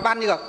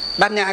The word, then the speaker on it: bát nhã: Hai chữ đó rõ ràng là đọc là ban nhược. Nhưng chỉ có Phật giáo chúng ta mới đọc là gì? Đọc là bát nhã.